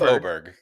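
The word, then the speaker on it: Åberg: what football players rise will resemble ludvig oberg's oberg aberer Tron you're the expert for yeah that's that was far better than I've ever done yeah we're going with oberg I I saw on the PGA pronunciation it's say oberg his next five years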